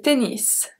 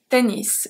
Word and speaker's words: tennis: Le ski, le ski, le tennis, tennis, be careful that here we do pronounce the S at the end. Le tennis, le vélo, and le volleyball, le volleyball.